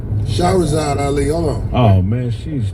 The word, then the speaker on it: Shahrazad Ali: Her name is Miss Rashad Ali. I'm saying the name wrong. Shahrazad Ali.